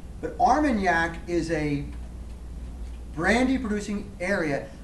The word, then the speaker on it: Armagnac: there's a place just south of cognac called armagnac armagnac a-r-m-a-n-g-n-a-c i think it's spelled i think that's how it spell but arm and yak is a brandy producing area south of i'm